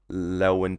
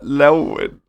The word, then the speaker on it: Llewyn: There's a lot of the Coen brothers influence in this, starting with, I would say, Inside Llewyn Davis.